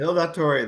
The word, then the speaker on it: Il Dottore: Just a quick synopsis of that book, and you have Il Datori. Is that Yes. how you pronounce it? Il Dottore, The Double Life of a Mafia Doctor.